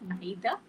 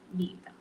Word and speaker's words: neither: You can either pronounce it as neither or neither. Okay.